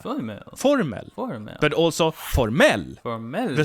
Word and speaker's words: formell: The stress moves from the first syllable to the last syllable, formell, which means formal.